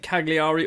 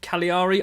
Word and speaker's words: Cagliari: gonna be up against Cagliari or Cali Ari I don't know I've always caught it Cagliari I've it's like a hard G in there I don't know that's